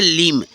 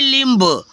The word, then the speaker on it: limb: जैसे LIMB, तो इसको पढ़ेंगे लिम, क्या पढ़ेंगे, लिम, ये नहीं लिम्ब, कुछ बच्चे पढ़ते हैं लिम्ब, ठीक है फ्रेंड्स।